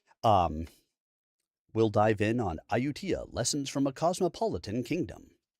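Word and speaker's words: Ayutthaya: And I believe I probably been pronouncing this word wrong. Ayutaya. Let's see. I think he tells me in a minute. I tia. It's Iutia. A yu t h a y a. Iutia.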